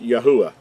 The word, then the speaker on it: Yahuah: name is accurately pronounced Yahuah. The 3rd letter gives us the U sound and not the Wah or the Vav sound as in modern Hebrew.